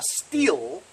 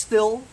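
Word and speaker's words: Stihl: criticizing somebody else calling something a sorry a steel weed whacker a still so he was criticizing that guy well it's supposed to be steel right STI HL even though it looks like it's still it's pronounced the spheal so he was saying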